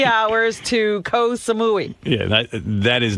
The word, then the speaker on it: Koh Samui: Koh Samui rhymes with Baba Booey.